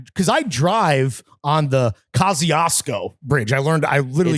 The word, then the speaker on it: Kosciuszko: because I drive on the Kosciuszko Bridge. I literally It's Googled how to pronounce 1,000% pronounced Kajuko.